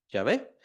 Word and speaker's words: Yahvé: dice a Moisés, pero el problema es cómo se pronuncia. No tiene las vocales de la misma manera como está ahí, solamente hay consonantes. Entonces no sabemos cómo se pronuncia. Al paso de los años se considera que es Yahvé, pero también de ahí